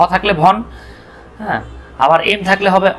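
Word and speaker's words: Vaughan: যেমন আপনারা আপনারা ইংল্যান্ডের একজন ক্রিকেটার ছিল মাইকেল ভন, দেখেন ভনটা বানানটা কেমন ছিল, দেখেন ভি এ ইউ জি এইচ এ এন, মনে হবে মাইকেল ভগান, আসলে ভগান না, উচ্চারণ কি ভন।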